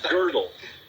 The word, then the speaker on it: Gödel: and they don't even teach you how to pronounce it. Yeah, exactly. It's horrible. It's Gödel.